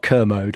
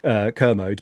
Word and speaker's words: Kermode: who's obsessed with this film, is it Mark Kermode or Mark Kermode? I've never figured out I whether think you're I've always said pronouncing like commode, but Kermit or yeah, the is it yeah.